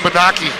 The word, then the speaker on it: Bonacci: Well, yeah, it's spelled way different. This is, yeah. Everybody calls him Bonacci.